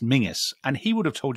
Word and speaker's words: Menzies: his name interestingly so it's obviously a scottish surname which scots will will tell you is pronounced mingus and he would have